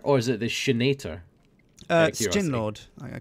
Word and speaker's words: Sjin: It's like you got to say it like a snake, like Sjin. It's like a snake having gin. Sjin. I'm not saying it like that. I'm going to say Sjin, like at the bottom of my foot.